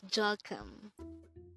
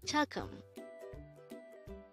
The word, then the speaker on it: 조금: the word chalkum so that's jaw plus gum it's jalkam chakum now let's try to